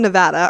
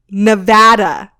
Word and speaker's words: Nevada: wrong and they're out this is how you say it Nevada not Nevada oh that made me